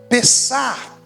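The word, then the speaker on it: פסח: significa passar por cima em hebraico nós pronunciamos pessar que é a língua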